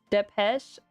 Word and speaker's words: Depeche: Oh, it's pronounced Depeche.